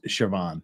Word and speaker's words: Siobhan: mentioned sioban there yeah siio BH an is shoban yeah as anyone who